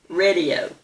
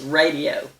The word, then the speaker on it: radio: Well, I've noticed, and I bet you have too, that lots of people say radio. Like that first vowel is a short E instead of a long A. It's radio, not radio.